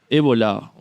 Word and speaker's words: Evola: mitad del siglo XX Julius evola o evola lo pronuncio ébola pero también escuchado esa otra pronunciación en uno de sus